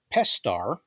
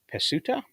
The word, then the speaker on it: Pestar: Pestar is actually pronounced Pesuta? No, Pesta. Pesta. Because I think the U is silent.